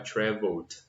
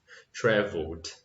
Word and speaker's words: traveled: Então, eu não vou pronunciar o e, isso é importante, é como se tivesse só o d. Então, travel vai virar traveled, tá? Tem esse som de t, traveled.